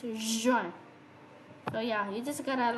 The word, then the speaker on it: juin: So basically, like in French, like in English, I mean, like the pronunciation of J is J, but in French it becomes J, like a G, you know, like J.